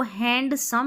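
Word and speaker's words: handsome: और यहाँ पर देखो, इसको हैंडसम नहीं पढ़ेंगे, हैंडसम, हैंडसम, यहाँ पर डी साइलेंट है, डी साइलेंट है, ठीक है।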